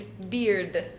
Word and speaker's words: beard: So this one, beard, is pronounced the same vowel sound as beer, as that cerveza, that first one, right? Beard, right? You're like right here. Mm-hmm. But we have that D sound.